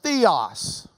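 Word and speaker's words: θεός: That word was theos.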